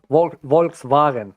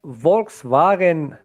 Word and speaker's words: Volkswagen: yeah um or let's let's take another metric uh total revenue of Volkswagen you like how I pronounce Volkswagen that's how the you know it's a bit of German accent so Volkswagen revenue is